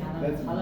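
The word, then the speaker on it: jalapeño: Sir, like the Spanish food jalapeno, like it's written in JLA. Right. But they just say it like jalapeno. That's very familiar in Hispanic culture, Yeah. right? Yeah. One. Jalapeno.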